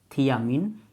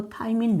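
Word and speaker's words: thiamine: इसको कहते हैं थी से होता है थियामिन, या इसको थाइमिन भी आप बोल सकते हो, ये प्रोनाउंसिएशन है, आप कुछ भी आप इसको बोल सकते हो, थियामिन, थाइमिन।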